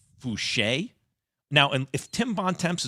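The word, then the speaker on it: Foucher: i thought it was voucher i just read f-o-u-c-h-e-r i just didn't know it was a french pronunciation don't worry max a lot of people have been calling him voucher for a long time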